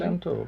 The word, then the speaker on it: Baal Shem Tov: And he was called the Baal Shem Tov. Am I pronouncing that right. correctly? Baal Shem Tov, yes.